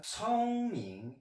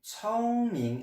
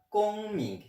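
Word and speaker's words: 聪明: est le verbe adjectif 聪明. 聪明, attention à la prononciation, le C en chinois se dit comme un TS, comme les cigales, tss, tss, tss, tss, et non pas 公明.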